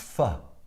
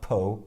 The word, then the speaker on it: pho: It's pronounced pho, not po or fo.